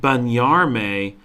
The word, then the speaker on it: bañarme: And then you're like, oh my gosh, you're saying bañarme, but you're pronouncing it with such a distinct V that in my mind I can't picture that it's a B, but it is.